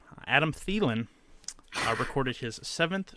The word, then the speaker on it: Thielen: proud of me I figured out how to pronounce this guy's name Adam Thielen our record is his seventh straight game with